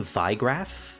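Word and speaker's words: Wiegraf: Oh, um I I pronounce it with a V at the beginning. Vigraph because uh it's German.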